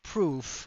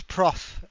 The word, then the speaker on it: Prof: here that's why uh not proof it's Prof uh as in the short um the short way to pronounce professor oh we don't mind